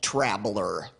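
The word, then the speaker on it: Trablr: The Press today with a little company called traveler that's spelled t-r-a-b-l-r so what's travel are gonna do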